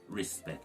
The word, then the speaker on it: respect: part 1 you have the c t blend which is pronounced with a k so the ct at